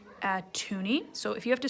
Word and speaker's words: toonie: here and this is called a toonie and it's spelt like this t o o n i e tooney it is worth two dollars so this is called atuni so if you have to stop this at